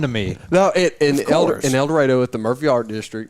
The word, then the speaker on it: El Dorado: the stage it says el dorado is pronounced like tornado because you get